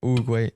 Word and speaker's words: Oogway: Okay, he said, oh yeah, Oogway.